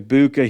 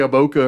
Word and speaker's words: Egbuka: It was like a Boca or something.